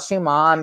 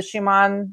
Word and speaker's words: Schumann: Do you think there's well, I call it Schumann because that's how the Germans would pronounce it because I'm half German, or you know.